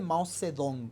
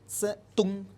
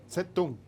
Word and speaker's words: Mao Zedong: Se escribe Mao Zedong, pero en chino la Z se pronuncia como Z y la D se pronuncia como T. Entonces no se dice Mao Zedong.